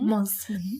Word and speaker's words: Mosman: Mosman. Pronounced with a Z instead of an S.